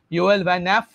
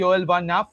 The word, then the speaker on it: Nieff: योएल वैन एफ, ये pronunciation कुछ ऐसा ही होगा क्योंकि योएल वैन एफ, क्योंकि हम NIEEFF को प्रोनाउंस ना करके न्याफ बोल सकते हैं।